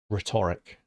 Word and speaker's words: rhetoric: The last word for today, rhetoric. Rhetoric. The H is silent.